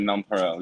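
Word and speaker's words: nonpareil: you can pronounce it nonparel. Yeah, nonrel is fine, but the actual pronunciation is nonre, which is like it's a French word.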